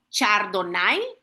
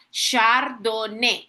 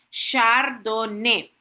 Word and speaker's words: Chardonnay: Si se han si me han escuchado en estos minutos atrás, yo no he dicho Chardonai, así como se escribe, sino que se pronuncia chardone, así como lo ven en pantalla, chardoné.